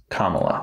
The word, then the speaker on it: Kamala: Do you want to pronounce the name again? This time try it a different way. Kamala.